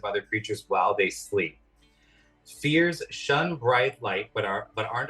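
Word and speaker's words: Feyr: Fear. F-E-Y-R, pronounced fear, is a tentacled horror that feeds quietly on strong emotions.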